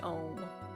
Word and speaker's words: Aum: An Aum, pronounced Om. It's a Hindu thing.